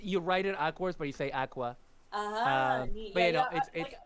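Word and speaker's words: Aqours: is being part of Aqua the defense yeah it's pronounced Aqua but um awkward but yeah it's it's you write it awkward but you say Aqua uh but you know like I I actually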